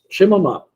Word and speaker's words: Chemama: Ele é menorzinho, assim, é vocabulário de psicanálise, se escreve Chemama, né? É bom. Um CH. Chemama.